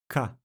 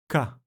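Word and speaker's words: קָ: The letter on the screen is Kuf. When adding the Nikud Kamatz Gadol, the consonant and vowel combination create the syllable Ka. Again, Ka.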